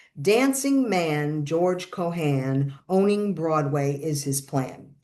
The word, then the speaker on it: Cohan: knew that, names like Ferran, Moran, Haran, that's how they're pronounced.